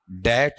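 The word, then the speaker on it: debt: class में नहीं थे बताओ क्या है आपका डेट है ठीक है बी क्या है इसमें साइलेंट है डेट का मतलब क्या होता है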